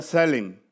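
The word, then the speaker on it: צלם: La palabra aquí imagen se toma del vocablo, de un vocablo hebreo que ya no existe, que llama que se pronuncia sellen, que significa, hermanos, semejanza o representación.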